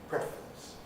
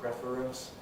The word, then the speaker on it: preference: That's meant to be syllabic R, preference, becoming non-syllabic R, preference. So this word, again, can be pronounced as 3 syllables, preference, or as 2 syllables, preference.